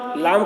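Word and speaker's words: ل: हवा निकल रही है ला लाम को भी ज्यादा खींच क्योंकि भी तीन हरफ से मिलकर बना है लाम अलिफ मीम लाम मीम मीम को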